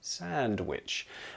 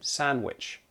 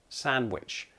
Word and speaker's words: sandwich: Now, when I say it slowly, I do pronounce the D, sandwich. But if I'm speaking with my friends, I will often omit that D, drop that D, and just say sandwich, sandwich.